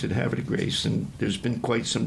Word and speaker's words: Havre de Grace: And they pretty much all said Havre de Grace. Havre de Grace. It's like, almost like it's one syllable or something. It's one word, and it's got multi-syllables. Havre de Grace.